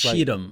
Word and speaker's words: Cheatham: Cheatham. It's Cheatham. like Cheatham County if you're Cheatham.